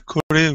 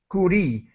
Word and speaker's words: Curie: has a different and her last name kurri I think is how I have heard it pronounced so uh radiography X